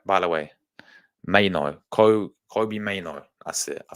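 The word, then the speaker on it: Mainoo: But it's pronounced Mayno. Mayno. Did I get it right? By the way, Mayno.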